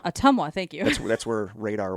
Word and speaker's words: Ottumwa: Ottumwa. Ottumwa, thank you.